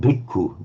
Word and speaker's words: bhikkhu: you use the word bhikkhu, do you? Yes. Meaning among. So how would you pronounce that in Burmese? Bhikkhu. Okay, exactly that same phenomenon. It's the b, but you drop the aspiration.